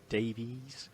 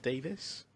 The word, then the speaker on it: Davies: I don't know how some people call him Davies, not Davis. Yeah, I don't know if I think it is Davies. It's spelled Davies, but a lot of people just kind of it rolls off the tongue if you say Davis.